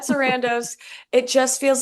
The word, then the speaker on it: Sarandos: Did I say it right, Paula? Sarandos? Yep. Ted Sarandos.